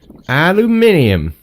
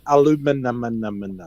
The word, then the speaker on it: aluminium: finest aluminium and diamonds aluminium at least you said it right mountain what oh sorry aluminum it changes every day don't